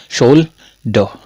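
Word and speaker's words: shoulder: इस तरह से इसको सोले मत पढ़ देना इसको सोले मत पढ़ना क्या पढ़ेंगे सोल ड सोल ड ड हो ड डो मत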